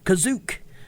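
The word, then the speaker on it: Kashyyyk: Ralph McCrory's matte paintings of The Wookie Homeworld kashyyk and an animated cartoon sequence that introduces Boba Fett and the special kashyyk is pronounced kazuk and is spelled that way in the script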